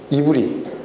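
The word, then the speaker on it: עברי: 건너온 사람들, 히브리라는 것이 이브리. 히브리라는 것은, 히브류라는 것은 이제 서양 사람들의 발음이고, 원래 이브리라고 얘기를 해요.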